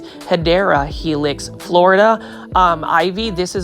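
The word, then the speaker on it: Hedera helix: And take a look at this Hedra Helix. This one is the correct way to say it is Hideera Helix Florida um ivy.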